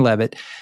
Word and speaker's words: Leavitt: Am I pronouncing her name correctly? I think it's Leavitt, but... Leavitt, okay. Yeah. Caroline Leavitt, stating the detention cost was, quote, approximately $6 million to El Salvador.